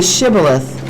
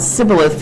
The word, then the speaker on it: Shibboleth: Then they said unto them, Say Shibboleth. And the man said Sibboleth, for he could not frame to pronounce it right.